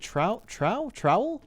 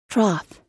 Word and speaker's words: trowel: How do you pronounce trow? Trowel. Wait, trowel? Troth.